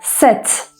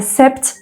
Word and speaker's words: sept: Set. Set. Burada da P'yi kesinlikle telaffuz etmedik. Yani sept demiyoruz. Set diyoruz.